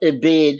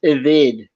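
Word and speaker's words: עֶבֶד: Okay, so the word is not ebed, it's pronounced eved.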